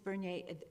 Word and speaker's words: Bernier: May I just, is it pronounced Bernier? Yes. Ms. Bernier, you said this graph is 2018, is that correct?